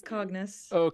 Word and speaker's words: Cognis: I'll request our team to cue in Cognis, if I'm pronouncing the word right. So Sandra, if you could join us here. Yes, hi. You pronounced it correctly. It's Cognis. Okay.